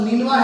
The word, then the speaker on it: نینوا: اچھا معذرت کے ساتھ لفظ نینوا پڑھنا چاہیے, نینوا بھی پڑھنا تو میرا خیال میں پڑھنا نہیں ہے. لیکن صحیح اگر درستی سے آپ کسی تلفظ کو ادا کرنا چاہتے ہیں تو لفظ نینوا ہے.